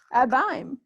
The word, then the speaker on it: abysm: practice you pronounce it a bime and it rhymes with rhyme which also rhymes with time let's just start a